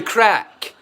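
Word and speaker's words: craic: It's a bastardized version of the original Irish. Oh, it's crack. And it means the same. It means exactly the same thing, but it's how they pronounce it.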